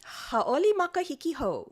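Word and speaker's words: Hauʻoli Makahiki Hou: Ha'oli makahiki ho.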